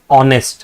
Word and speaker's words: honest: H is not a vowel. But see when you pronounce this word it says honest right?